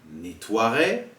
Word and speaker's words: nettoierai: Soit un E, par exemple un éternuement, je nettoierai, nous jouerons. Vous remarquez ici qu'on ne prononce pas le E quand on lit.